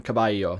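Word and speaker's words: caballo: I became anyo and Latin kabbalos became kabayo that means horse finally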